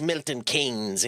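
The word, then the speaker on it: Milton Keynes: Like it is pronounced Milton Kings even though it's spelled so weird.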